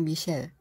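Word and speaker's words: Michel: 미카엘은 프랑스어 발음으론 바로 미셸, 생미셸이죠.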